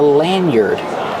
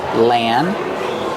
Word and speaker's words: lanyard: this is called a lanyard lanyard use a short a like hand and man Lan lanard use the r sound like bird and word y lanyard this is